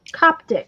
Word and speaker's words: Coptic: how to do the cup coptic is actually how you say it i think stitch when we did